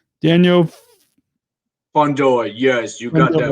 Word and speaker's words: Fundora: i ask to be people on how to pronounce your last name but it's daniel fondor yes you got that right what that was